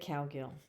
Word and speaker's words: Cowgill: get another word so the first syllable cow the second syllable gill you put them together and you get cowgill so my name is